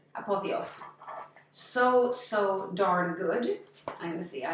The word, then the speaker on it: Apothéose: Apothéose. That's how it's spelled. Apothe with a hyphen over the E. Apothéose.